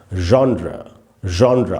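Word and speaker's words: genre: बाय द वे आपको ये बता दूं, ये जो वर्ड है इसको लोग जॉनर बोलते हैं, जॉनर नहीं है, इसका उच्चारण है जॉनरा।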